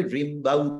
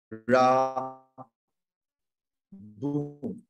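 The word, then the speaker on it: Rimbaud: নাই জেনে নিই তাহলে রিমবাউ দিতে বললে কিন্তু এটা হচ্ছে রা বু আর্থু আর্থু এরকম করে আর্থুর রাবু এইটা হচ্ছে তার নাম ফরাসি উচ্চারণে শব্দগুলো অন্য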